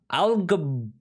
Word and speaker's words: Algarrobo: The Guinness Book of World Records awarded Algarrobo, I believe is how you pronounce it, a city on the Pacific coast of Chile with which world record?